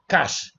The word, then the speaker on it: cache: Now we're talking about cash. You see how I pronounce this thing? Cash like cash uh naira.